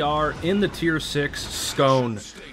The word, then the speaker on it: Skåne: in the tier six scone I do believe I got that pronunciation right right scone it's not the ske it's the scone I know I might